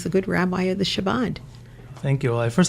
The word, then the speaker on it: Chabad: That it's not Shabbat, it's Chabad. Oh, okay. But it's okay. I stand corrected, or I sit corrected. Say it again. Chabad. So Chabad. It's like Hanukkah. Like challah. Chana, like challah. Like challah. Then I understand Chabad.